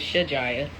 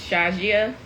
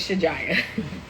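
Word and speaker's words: Shajiyah: her full name is shijaya s-h-a-j-i-y-a-h in Arabic it's pronounced Shazia but we're American so her name is shijaya so little baby my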